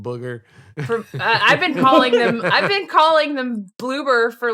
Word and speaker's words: Bloober: thing I see in the timestamp is the Bloober logo. The Bloober logo. Beautiful. Oh, man. We kept mispronouncing the name earlier, calling them everything but what they actually were. Just complete disrespect. Booger.